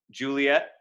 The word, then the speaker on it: Juliet: juliet lives right hiccup juliet elides to two syllables as it often does